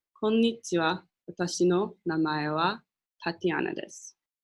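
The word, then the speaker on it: こんにちは: of day right now it's afternoon you'd say konichiwa so I'm gonna announce it again just so you guys can hear it konichiwa and that is again how to say hi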